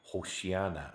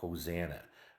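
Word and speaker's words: Hosanna: Messiah they would say hosiana or hosana hosana is a it's hosana is the English uh mispronunciation of hosiana and hosana means god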